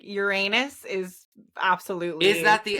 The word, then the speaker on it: Uranus: Because when people are like Uranus or like Uranus. They try to not say anus, I'm like, bitch. I say Uranus. I've always said Uranus, but yeah, like Uranus is absolutely.